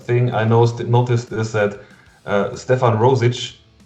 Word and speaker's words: Stefan: It's Slavic, it's Serbian. It's Stefan and not Stefan. No, it's Stefan. Yeah, because in Germany we tend to pronounce things a bit harder.